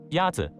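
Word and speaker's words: 鸭子: Is it ya-zi? Ya-zi is pronounced with a first tone. In Mandarin, there are four tones, which are essential to distinguish the meaning of words. The first tone is a high-level tone.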